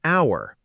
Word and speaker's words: hour: We say an hour, not a hour, because the H is silent. So, the word actually starts with a vowel sound.